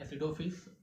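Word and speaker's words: acidophils: का है तो हम इसको बोल सकते हैं एसिडोफिल्स अगेन इंपॉर्टेंट है ठीक है एसिडोफिल्स ए सी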